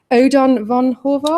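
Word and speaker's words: Ödön von Horváth: is Simon's adaptation and let me get the pronunciation right here Odon Von horar Odon Odon Odon Von horar thank you yeah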